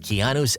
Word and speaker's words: Keanu: It was a simple moment, but Keanu's effortless cool made it unforgettable. That's pronouncing your name.